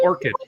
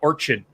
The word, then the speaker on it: orchid: come see orchid the orchid the H is silent it's silent is no Logan it's not Orchard not no animals for